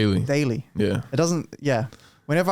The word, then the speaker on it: Daly: Daly. Daly.